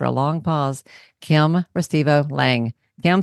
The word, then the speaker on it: Lange: Kim Lang.